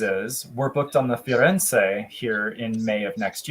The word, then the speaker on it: Firenze: compare the difference between the Venezia and the Friends. Yes. Firenze.